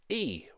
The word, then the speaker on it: Yi: I'm pronouncing it wrong in China those letters are pronounced e well according to their